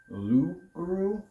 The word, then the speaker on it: loup-garou: So, Rougarou was actually started as a French story, and it was actually pronounced Loup-garou, which literally translates to man who turns into animal.